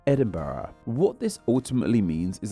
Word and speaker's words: Edinburgh: within the Scots language the Germanic Burg suffix evolved into burra the spelling of the H on the end like we see in Pittsburgh in Scotland it is best seen at the end of their capital's name Edinburgh what this ultimately means